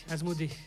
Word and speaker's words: Asmodée: Ça fait 15 jours que je me dis dans ma tête Asmodée, il faut pas que j'oublie en fait c'est Asmodée. Non, mais parce que ça s'écrit, il faut le Ouais, dire, ça se passe Asmodée.